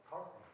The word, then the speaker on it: Cartney: Cartney.